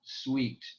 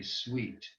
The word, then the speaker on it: suite: also have this sound once in a while in English, as in the word suite. If you have a fancy hotel room, it could be called a suite, S-U-I-T-E. And the upsilon, iota are pronounced we.